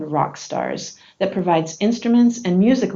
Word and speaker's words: Rawkstars: In 2006, I worked with my favorite client, a non-profit organization called Rawkstars, that provides instruments and music lessons to kids who can't afford them.